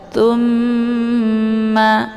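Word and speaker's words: ثُمَّ: jahilin tumma tawallaitum Tum di sini ada mim yang bertasydid ini dinamakan dengan ghunah musyad dadah cara bacanya ditekan kemudian ditahan sehingga terbentuk suara yang mendengung tumma ya didengungkan tumma tawallaitum tawallaitum La Di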